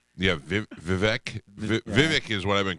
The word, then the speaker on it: Vivek: We've been calling him Vivek because of Jeff. Yeah, Yeah. Jeff Vivek. Jeff Vivek. He told Hannity it was Vivek. Yeah, Yeah. Vivek, yeah. So they were all saying it wrong.